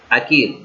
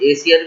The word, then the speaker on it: acere: और अगर इसे प्रोनाउंस करने में डिफिकल्ट हो रहा तो आप उसे एसियर भी कहते हैं, एसियर भी कह सकते हैं।